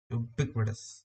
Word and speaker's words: ubiquitous: ubiquitous your goddess ubiquitous four syllables that first syllable is is just like you're saying the letter you you ubiquitous and the